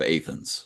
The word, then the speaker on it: Athens: We have a Versailles that we pronounce Versailles, Okay. and we have instead of Athens, we have Athens.